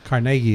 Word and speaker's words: Carnegie: Carnegie, if you say it correctly.